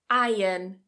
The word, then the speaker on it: iron: Iron, iron. So notice that I'm not pronouncing that R.